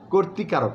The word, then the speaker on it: কর্তৃকারক: যেমন বলা হয়, আমরা বলি কর্তৃকারক, না, ভুল, বলতে হবে কর্তৃকারক। কোর বলে তয় রফলাটা আমরা কিন্তু উচ্চারণটা স্পষ্ট করে করতে হবে। যেমন সেটা যেন এরকম না হয়ে যায় ফার্মেলের মতো, কর্তৃকারক এরকম যেন না হয়।